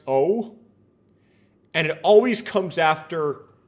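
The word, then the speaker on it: を: is by the way this right here is pronounced o and it always comes after the object of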